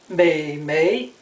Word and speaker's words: 美眉: It's not pronounced mm.It's pronounced meimei.